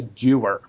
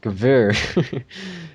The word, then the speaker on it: Gewehr: A Jewer. No, it is pronounced Gewehr.